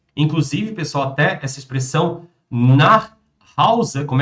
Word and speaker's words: nach Hause: Wir fahren jetzt nach Hause. Inclusive, pessoal, até essa expressão nach Hause, como é que vocês vão pronunciar? Nach Hause. Olha o nosso Eschwa.